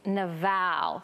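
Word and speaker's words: Nabal: to Abigail's husband and I love the Hebrew pronunciation of his name it's Naval so just say it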